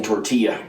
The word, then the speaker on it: tortilla: Taylor Swift makes music for people who pronounce the L's in tortilla.